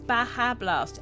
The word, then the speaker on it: Baja Blast: It's Baja Blast. Okay. Because it's pronounced with the J is a H sound.